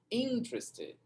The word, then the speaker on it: interested: Interested. Interested. Interested. Tá no in a pronúncia, tá vendo? Ó. E daí o teres vira tres. Interest.